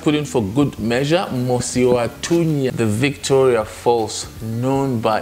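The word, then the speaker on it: Mosi-oa-Tunya: So that's why it's spelled M-U-S-I and then O and then Tunya. But the original is Mosiwatunya, the smoke that thunders. So the correct one is Mosiwatunya.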